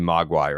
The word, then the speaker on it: Mogwai: Mogwai. That's got to be Mogwai, right?